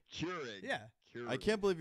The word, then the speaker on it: Keurig: Cure, like you cure a disease. Keurig. Keurig.